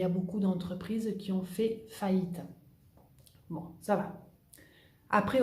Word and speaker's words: fait: desecho, de ce fait, fait. La T no se pronuncia, no digo de ce fait.